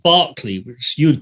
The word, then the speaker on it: Berkeley: about 10 minutes drive from a place called Barkley which you would call Berkeley you know so's